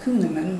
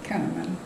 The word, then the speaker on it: Kunneman: Often pronounced Kunneman, but we have always said Kunneman.